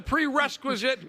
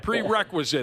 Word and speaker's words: prerequisite: counts okay that's the prequisite quisite on this show too but we've had you on for 20 some years prere prerequisite is how you say it can you give out